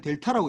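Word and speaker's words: δ: 이게 이름을 델타라고 읽어야 돼. 델타.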